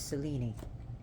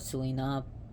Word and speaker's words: Selene: be on the goddess Cellini notice how I said the word Cellini because that's how her name is pronounced in Greece Greek here we call her Celine silly some people call it Selena but Cellini and Cellini